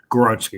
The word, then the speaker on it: Skoronski: And Skoronski, I think I say his name right? Skoronski. Skoronski, yep.